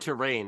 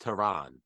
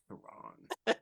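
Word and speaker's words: Tehran: streaming on the Criterion Channel Ryan you said terrain it's pronounced Teran Teran because that's the capital I'd like to amend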